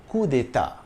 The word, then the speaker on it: coup d'état: In English, it's coup d'état with an emphasis on the ta. The French pronunciation is slightly different. The D and T are soft. Coup d'état.